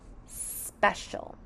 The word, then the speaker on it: special: Sounds like an SH digraph, but here it's spelt with an C and an I. Sounds like a U, but it's spelt with an A, and O is L.